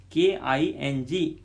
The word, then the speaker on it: king: Then N-G sound, K-I-N-G, king, king. Actual G is not pronounced. King, just sound is ng.